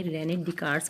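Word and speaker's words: René Descartes: है रेने डि कार्ट्स इसको आपने रेने डि कार्स पढ़ना है एस इसमें साइलेंट आता है रेने डि कार्ट्स रेनेट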